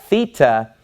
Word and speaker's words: Theta: the wordthe thta whereas Theta makes the sound as in the word thick the harder th sound thick Theta all right then